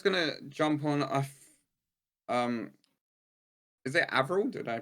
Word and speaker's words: AVRL: Yeah, no, I was gonna jump on is it AVRL? Did I pronounce it right?